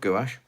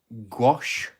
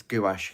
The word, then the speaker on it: gouache: gouache because I love gouache, and that's how I say it. It's the standard English pronunciation of the word gouache, but in other countries you may call it gouache or gouache. But it's gouache here in the UK as a standardized one.